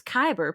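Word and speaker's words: Kuiper: I heard it pronounced a few times. And I was like, I know it's Kyber, but it's not spelled that way.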